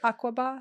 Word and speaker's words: Aqaba: Oh, so then they just liked you guys so much that they went to Aqaba. That we all decided together. Am I saying it right? Aqaba? Yeah.